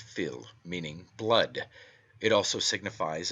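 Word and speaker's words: fuil: from the Irish word Phil f-u-i-l pronounced Phil meaning blood it also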